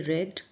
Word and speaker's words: read: The statement रेड, ऐसा बयान में कहा गया, द स्टेटमेंट रेड, रीड की सेकेंड फॉर्म होती है रेड, ठीक है, स्पेलिंग सेम होती है लेकिन प्रोनाउंसिएशन अलग होता है, प्रोनाउंसिएशन क्या होता है, रेड।